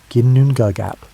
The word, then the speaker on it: Ginnungagap: Before there were worlds or stars or the concept of up and down, there existed only Ginnungagap, pronounced Ginnungagap.